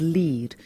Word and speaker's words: lede: nugget of information is known as the lead you might sometimes see it's spelt le de and when you don't